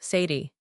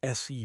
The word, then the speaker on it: said: So why isn't said pronounced sadi? This is one of the biggest pronunciation traps in English. You must never ever say sed. It is pronounced sed d rhymes with red bed head.